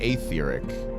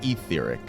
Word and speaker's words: aetheric: pronounce things the way confirmed a long e. Yeah, but I've heard a voice actor in this game only once pronounce it atheric. All the other times I've heard them pronounce it etheric. So, we're talking like 99.9% to 0.1. So, I always go with etheric.